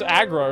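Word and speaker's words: Aggra: No, it's Agra or some kind of bullshit, dude. That's a false. That's a 100% false. Okay. Fact. Her name is usually pronounced as Agra, though, in-game and in text.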